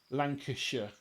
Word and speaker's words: Lancashire: to sounding things out, Worcestershire makes sense if you read it phonetically. In the same way as Lancastershire and things like that, but it's Worcestershire and Lancashire.